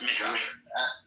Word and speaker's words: Midrash: It is pronounced Midrash.